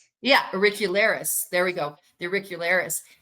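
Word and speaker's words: auricularis: Yeah, uricularis.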